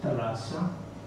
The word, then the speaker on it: Thálassa: el mar uno es talasa con acento en la segunda y talasa en griego